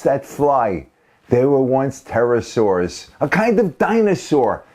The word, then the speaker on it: pterosaurs: fly they were once pterosaurs a kind of dinosaur the P is silent and the big ones